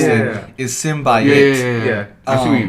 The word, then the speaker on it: symbiote: Like, I think the 1990s cartoon, it pronounced it symbiote. Well, most people pronounce it symbiote.